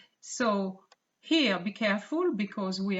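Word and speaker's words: cent: last one is and the pronunciation is so not sent even though it is spelled like sent in english but it's so so these are the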